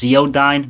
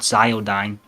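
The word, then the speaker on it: Ziodyne: Also, it's pronounc it's also it's pronounced zeodine, not zodine.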